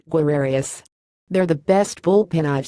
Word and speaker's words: guerreros: so there it was Guerrero's pronounced where arias there the best bullpen